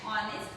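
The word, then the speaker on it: honest: Second, he is dash ऑनेस्ट person. यहाँ पर एच, एच का साउंड साइलेंट है तो क्या आएगा यहाँ पर, एन।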